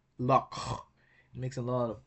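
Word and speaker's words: loch: In English, we pronounce it lock, but in Scottish, it is pronounced lock, lock, lock. It's like a uvular fricative sound.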